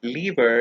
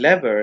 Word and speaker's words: lever: This word is pronounced as lever in British English and lever in American English.